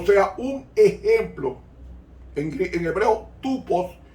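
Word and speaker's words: τύπος: En hebreo, tupos, se escribe tupos, se pronunciará tipos.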